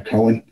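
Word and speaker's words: Cowen: which is now i think they say they pronounce it collin c-o-w-e-n or cohen um he called them up and we hired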